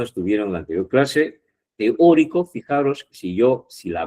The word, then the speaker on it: teórico: yo si la veo, si yo la divido en sílabas, ahí hay cuatro sílabas, ¿no? En la palabra teórico, ¿ya? T es una sílaba, o otra, tri otra y co otra. No es teo. Teo no va juntos, son dos vocales fuertes, ¿os acordáis?